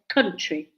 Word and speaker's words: country: So it's not said count, like we say count money, count 1, 2, 3. It's said country.